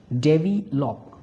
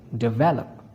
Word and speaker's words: develop: If you stress the wrong syllable, the word sounds strange. For example, the word is develop and you speak it deop. No, that will be correct incorrect pronunciation and correct will be develop.